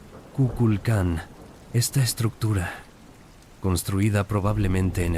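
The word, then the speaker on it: Kukulcán: Déjame llevarte a Chichen Itsá, uno de los sitios mayas más famosos, conocido especialmente por la pirámide de Cuculcan, pronunciado Kuculkan.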